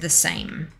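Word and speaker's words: the SAEM: the s-a-e-m but it's i believe it's pronounced the same but i don't know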